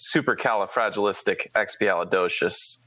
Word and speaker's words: supercalifragilisticexpialidocious: podcast also hasn't watched Mary Poppins, it is supercalifragilisticexpialidocious. Very well. That is how you pronounce the word.